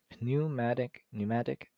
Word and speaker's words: pneumatic: Pneumatic piston. I don't know why I always try to pronounce the P. It's not silent.